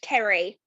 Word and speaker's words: Kerry: And by the way, it's pronounced Kerry. I'm so sorry, Kerry. It's all right. It's the spelling that always catches people out.